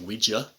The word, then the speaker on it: Ouija: And all this kind of jumps off because she starts playing with a Ouija board, or which is actually pronounced Ouija. Apparently the people who invented it have stated, no, it's pronounced Ouija.